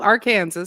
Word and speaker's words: Arkansas: No, Arkansas. That's how it's properly pronounced.